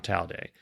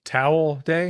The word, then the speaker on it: Towel Day: never seen me on Tau day Tau day is May 25th Towel Day Towel Day child day spell it uh t-o-w-e-l towel towel well like you tell yourself after a shower yes holiday a towel